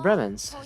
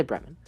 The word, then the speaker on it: Bremen: I'll say Bremen. Because that's how Fremen is spelled, just with an F instead of a B. And unless all of my friends and I have been pronouncing Fremen incorrectly, I'm going to say that it's pronounced Bremen.